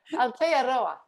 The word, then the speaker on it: Aotearoa: I think you add a syllable. I think that's what's adding a syllable. I'm adding a syllable. Hold on. Aotearoa.